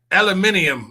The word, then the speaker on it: aluminium: It's like how the British say aluminium. I'm like, it's aluminum.